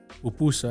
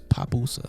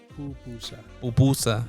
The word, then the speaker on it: pupusa: How do you pronounce? Pupusa. That's how I say it. I thought it was papusa. Oh no, yeah. Pupusa.